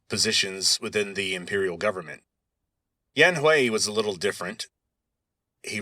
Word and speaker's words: Yan Hui: man named Yan Hui, Yanhui, and in the pinyin system, that would be pronounced Yan Hui.